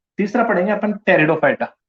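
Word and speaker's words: Pteridophyta: तीसरा पढ़ेंगे अपन टेरिडोफाइटा, टेरिडोफाइटा की स्पेलिंग पी से होती है, टेरिडो टेरिडोफाइट्स, ठीक है।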